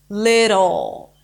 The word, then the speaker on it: little: but thewwa with a dark L sounds to us like an o sound like a neutral o sound that many languages use little little little now let's